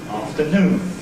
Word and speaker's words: afternoon: Now this mark before the N of course is a stress mark and that says that in that word the last syllable is stressed and we make it louder longer more noticeable than the other two syllables of the word afternoon.